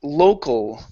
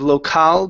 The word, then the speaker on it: local: e next one here is local instead of locale playgrounds it's low Cole local look oh well there you go or one of the local playgrounds oh one of the local playgrounds instead of law okay don't let your mouth open as much it slow local and yeah or one